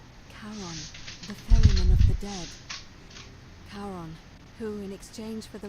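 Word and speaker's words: Charon: it's just as you described it only your pronunciation is a little off the name you you heard wasn't Karen it was C h r o n as in the fman of the Dead karon who in exchange for the right coin helps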